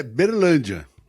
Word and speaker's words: Uberlândia: A pronúncia correta é Uberlândia. É assim que fala Uberlândia, né?